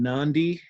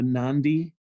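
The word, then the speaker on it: Nadi: we're gonna be in Nandi and Adi is how they spell it that D in Fijian has an end to it the Nandi but you can click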